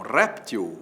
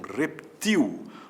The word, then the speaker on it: réptil: acrobata sem acento paroxítona o jacaré é um réptil ou é um reptil você vai dizer que é um réptil que é a forma mais usada Pois é se ele for um réptil acento agudo réptil é paroxitono acemin L Mas saiba que o jacaré também pode ser um reptil oxítona reptil sem acento